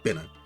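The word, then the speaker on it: Binah: Throw you in a Bina. Twitch ate the H at the end of the name for me. Bina is how it's pronounced, voiced in Ruina.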